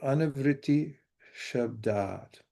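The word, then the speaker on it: anāvṛttiḥ śabdāt: to do that, but the S with a slash over it is pronounced SH, like in shine. And the A with the line over it means that it's long. So anavriti shabdat, which means liberation by sound.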